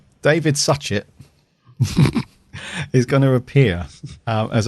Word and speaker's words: Suchet: Don't say Satchet. So I'm going to take a stab at this one. David Suchet. Yeah. Cool. Right. David Suchet is going to appear